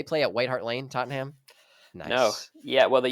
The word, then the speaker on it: Tottenham: I think I have to blur it together to make it faster to actually sound like Tottenham. Tottenham.